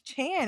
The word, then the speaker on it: Chan: And so she said, "Oh, your name is Chan. It rhymes with Jan."